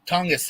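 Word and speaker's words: Tonges: talking about yesterday oh Jake tongas yeah tongas thank you is that how you pronounce his name yes all right podcast lame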